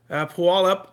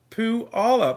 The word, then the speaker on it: Puyallup: Puyallup, Taz checking in.